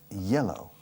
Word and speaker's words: yellow: De hecho, amarillo en inglés se pronuncia casi idéntica a hielo en español. Yellow.